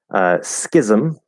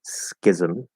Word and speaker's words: schism: Schism. So that's the S there is a Z, and the CH is a K. Schism. Schism. The vowel there is I. Second, like an it.